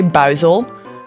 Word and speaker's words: Buizel: I don't actually know how Americans say that, but in Dutch we say Buizel.